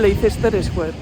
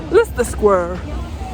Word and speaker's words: Leicester Square: Idatzita irakurriko duzuen Leicester Square. Baina euren nitzez, Leicester Square. Pronunciation, babies.